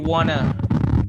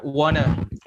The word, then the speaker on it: wanna: Jadi teman-teman bisa bilang want to itu bisa disingkat lebih cepat jadi wanna. Ya. Bacanya wanna.